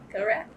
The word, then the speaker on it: Gorath: We're with the Oklahoma State University Library, and we're in Perry, Oklahoma, to speak with Ernest Gorath. Did I pronounce that right? Fine. Gorath.